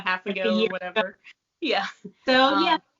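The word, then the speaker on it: Ess: out her shop because she has she's got a lot of options so i've got the next one here is the s shawl it's spelled e-s-s um but when this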